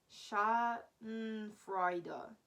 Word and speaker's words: Schadenfreude: The way it's like spelled, like how you should pronounce it here is Schadenfreude.